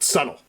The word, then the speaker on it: subtle: She doesn't even know how to pronounce the word subtle.